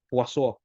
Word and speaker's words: Poisson: So let's call it Poisson, but if you're going to see the proper enunciation of that, pronunciation is Poisson because it's French. But let it be Poisson for now.